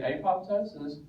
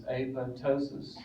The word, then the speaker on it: apoptosis: faculty person will say apoptosis no it's tosis it's apotosis it's not apoptosis it's apotosis toes never heard we don't pronounce the P it's toses just like